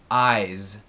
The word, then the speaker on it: eyes: olos é como se fosse um z então Eyes Eyes Eyes Eyes ao falar do s